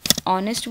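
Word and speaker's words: honest: तो वो सारे नाउन्स जो एच से शुरू होते हैं बट जिसमें एच साइलेंट होता है, वहाँ पर हम ए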